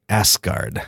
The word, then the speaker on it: Asgard: chance to be in Asgard as well as on earth and where as Odin pronounces it asked guard ask the one I